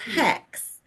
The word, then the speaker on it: H3X: I was like it's hex he was like good because h3x is a really weird name for a band I'm like why would you think that it looks like it says hex um so yeah we